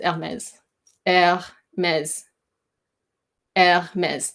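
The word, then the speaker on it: Hermès: a mess yeah mez Hermes there's an accent on the last e and it's the X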